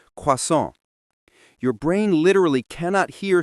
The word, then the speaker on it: croissant: It's like when English speakers try to pronounce croissant, but it comes out sounding like quasant instead of the French quason.